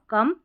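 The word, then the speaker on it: come: लेकिन हम ओ को ओ नहीं पढ़ रहे हैं। एक्सेप्शन है याद रखना है। लव कम।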